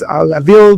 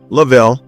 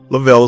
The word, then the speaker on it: Lavel: Today we we have with us Lavil uh, how do you say your name? Lav. Lavel. Lavel is correct.